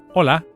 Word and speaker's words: hola: A good place to start is the greeting hello, which in Spanish is hola. Please repeat that. Hola. Hola. You can hear that the initial H is silent.